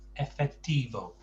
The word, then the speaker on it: efectivo: And watch your O's, because in English we do lengthen the O a bit. So effectivo. Effectivo. Oh, it's got to be an O sound at the end.